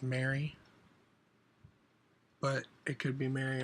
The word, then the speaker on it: Marie: My mom's name is spelled Marie and it's pronounced Mary, but it could be Mary or Marie Lou.